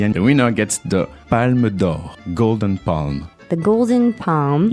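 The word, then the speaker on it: Palme d'Or: And so at the end, the winner gets the Palmodor golden palm. The Golden Palm. Yeah. Mhm. And that's what the big award of the whole festival. That's it. How do you say it again? Palmodor.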